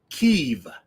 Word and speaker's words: Kyiv: That's the capital city of Kyiv. Right. Which is the Ukrainian pronunciation.